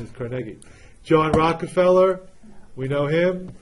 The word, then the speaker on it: Carnegie: I know everybody says Carnegie, but the correct pronunciation is Carnegie.